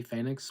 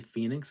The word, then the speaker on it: Fenix: You know, Ray Fenix or Ray Phoenix, however you want to pronounce it. I usually say Phoenix because I'm from the area.